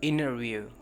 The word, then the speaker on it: interview: अगर नहीं हो पा रहा तो सिंपली तौर पे टी को स्किप कर दें, इंटरव्यू. लेकिन कोशिश कीजिए कि नाक से टी की आवाज़ आए, जहाँ से आपने एन को प्रोनाउंस किया वहीं से टी को प्रोनाउंस कीजिए, interview.